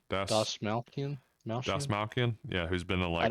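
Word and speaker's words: Dastmalchian: How do you pronounce his last name? Das Malkian.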